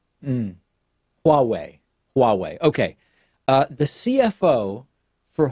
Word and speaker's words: Huawei: that correctly petting it's think about Yahweh like the other word for God and then just pronounce the first letter a little bit differently I think it's Huawei mmm Huawei Huawei ok the CFO